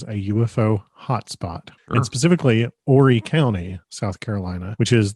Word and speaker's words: Horry: Horry County contains Myrtle Beach, North Myrtle Beach, Conway. It's a huge county geographically. It's important to note that Horry County is spelled Horry, but the H is silent because it is named